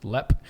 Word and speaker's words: Leap: almost precedes its reputation leap Castle pronounced leppe okay so let castle